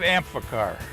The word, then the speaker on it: Amphicar: First off, let's get the pronunciation correct. You're in a 1965 Amphicar.